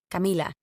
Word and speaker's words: Camila: I'm actually working on pronouncing my name as Camila the way that my family always called me instead of Camila the Americanized way it's another part of